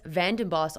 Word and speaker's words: VandenBos: As usual, I'm grateful and honored to have Chris Vandenboss on the podcast.